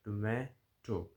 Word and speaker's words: tomato: Tomato. This is how it is pronounced in American English.